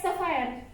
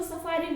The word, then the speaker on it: sapphire: सफायर। कोनी इसको सफारी बोलते हैं, तो सफायर मतलब इसका स्पेलिंग आप देख लेना, मतलब आप कैसे प्रोनाउंस करते हो, ठीक है।